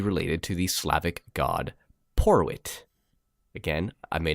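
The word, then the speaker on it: Porewit: to the Slavic god Porwit. Again, I may not be saying that right. It could be Porvit. The W can be pronounced in that sort of region as a V to English sometimes.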